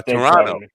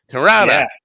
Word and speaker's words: Toronto: for being here uh Toronto toron now mispronounce that as toron but that's I can't help myself that's a a Long Island thing toron uh comedy scene